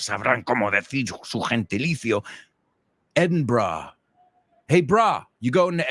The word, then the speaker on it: Edinburgh: The fourth one is Edinburgh.